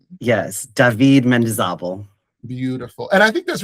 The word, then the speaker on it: Mendizábal: So will you please tell the people how to properly pronounce your name? Yes, David Mendizábal.